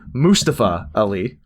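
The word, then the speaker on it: Mustafa Ali: of well obviously led by uh let me pronounce this correctly mustapha ali because he's a moose because he's a moose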